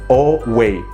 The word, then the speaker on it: away: Away. Pareciera como que empezara con una O al inicio.